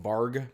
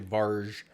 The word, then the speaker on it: varg: g and usually that's a hard G like G like varg but it's actually varge um it's a Swedish name um and vge is Wolf in Swedish so just a little